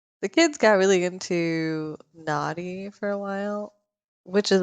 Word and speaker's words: Noddy: It's spelled Noddy, but like when your 5-year-old asks you to put Naughty on the TV, it Yeah. doesn't sound good.